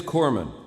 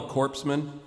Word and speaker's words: corpsman: funny okay it it it is corman you don't pronounce cs i mean it's not very good for a guy delivering first aid to be called a corpseman like i'm laying there